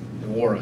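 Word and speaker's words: Nwora: Obviously, they can score outside with the likes of, you know, I always say his name wrong, Wara, right? I say the end. Wara, sorry, the N is silent.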